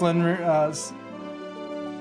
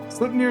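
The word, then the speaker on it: Sleipnir: It's pronounced Slinrear. Can I get my tongue to do this correctly? No. I'm gonna give up now. Slipnir is the easy way to pronounce it. Slinrear, close enough. It is closer to the correct pronunciation.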